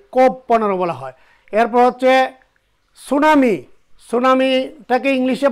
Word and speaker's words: tsunami: এরপর হচ্ছে সুনামি, সুনামিটাকে ইংলিশে বানানটাই ভাবে TSUNAMI সুনামি।